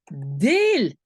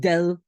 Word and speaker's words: deel: Alors c'est ik deel. Deux E. Pourquoi? Parce qu'en fait, c'est une syllabe fermée. Si je ne mets qu'un E, je vais prononcer ik del.